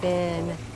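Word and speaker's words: Fionn: That's Finn. F-I-O? The Irish spelling is F-I-O-N-N, but it's pronounced just like F-I-N-N.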